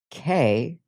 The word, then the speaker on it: Kei: pronounced K. K E I.